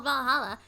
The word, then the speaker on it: VA-11 HALL-A: even reads her blog the name sounds silly and a bit hard to pronounce good thing it's actually called valhalla the funny numbers and letters are just a code anyway i visited this cute